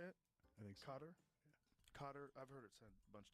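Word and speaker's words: Qatar: Cutter.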